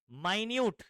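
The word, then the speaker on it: minute: process of addition of माइन्यूट यह मिनट नहीं है क्या पढ़ेंगे इसको स्पेलिंग सेम होता है मिनट और माइन्यूट का यहां पर माइन्यूट यानी क्या होता है स्मल स्मॉल क्वांटिटी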